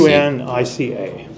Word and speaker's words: Unica: How do you spell it? U-N-I-C? U-N-I-C-A.